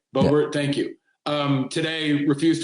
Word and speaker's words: Boebert: Boebert, yeah.